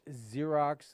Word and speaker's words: Xerox: names out there like xerox and stuff like that it's just spelled with an x yeah who in the world funny phone made the x sound like a z let's go go through